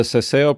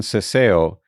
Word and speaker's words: Seseo: The Seseo pronunciation is used mainly in the Americas and in very particular cases and areas in Spain.